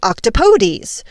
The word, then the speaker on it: octopodes: The Greek ending would then be octopodes. Octopodes. So, octopodes? I do kind of like Merriam-Webster's reminder on how to pronounce octopodes. They say it rhymes with, don't say that please.